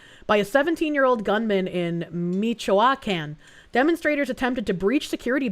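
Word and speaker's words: Michoacán: It's pronounced Michoacan.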